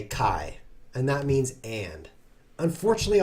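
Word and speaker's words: καί: appear like someone who says and in greek which i now do kai i hope that comes in handy to you it's spelled kappa alpha iota now you've learned something on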